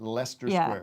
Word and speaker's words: Leicester: up later confirmed that we shall be pronouncing it leicester leicester we don't have to mess around in there there's all kinds of extra letters in there yeah cause we we